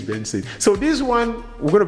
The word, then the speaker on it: BNXN: So the way the name is spelled is BNXN, which means Benson.